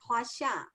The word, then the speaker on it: Huaxia: Jenny, did I pronounce that correctly, or how far off was I? Yeah, correct. Huaxia.